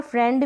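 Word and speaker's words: friend: तो क्लियर, यहाँ पर फ्रेंड में आई ई को ए का साउंड दे रहे हैं, फ्रेंड नहीं बोल रहे, तो ये इसमें आपको ऐसे ही ध्यान रखनी है इस स्पेलिंग को।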